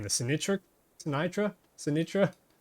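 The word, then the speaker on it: Sinytra: butcher the name, the Sinitra Sinitra Sinitra. I used to call it the Sinatra connector like Frank Sinatra.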